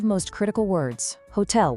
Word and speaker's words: hotel: Hotel with a silent H.